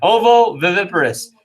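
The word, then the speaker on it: ovoviviparous: viviparous at the end okay you see ovo vivi and then p-a-r-o-u-s so i'll try that again oh the that's how many how many syllables is that that is one two three four five six syllables okay ovo viviparous now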